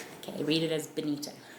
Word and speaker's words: Bernita: My name is actually Bonita. pronounce B I N I T A but spelled B E R N I T A um kind of as a mistake by my father on my birth certificate.